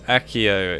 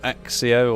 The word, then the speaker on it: accio: here we go accio it's Akio it's not axio or whatever they say it is